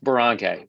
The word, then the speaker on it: Boronkay: Boronkay. But I'll go with Boronkay.